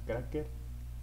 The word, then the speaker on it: Craxxker: día de hoy voy a sonar a Cracker, Cian y The Street Boy. La canción se llama La Nota. Creo que se pronuncia Cracker, güey. Si no, no estoy cagando, pero es Cracker.